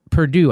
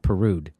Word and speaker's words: Perdue: Lee, really, Pete Lee, Flake, and Perdue, I think it's supposed to be, not Perude.